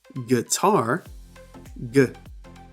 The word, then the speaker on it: guitar: But guitar, tar, that word has two syllables.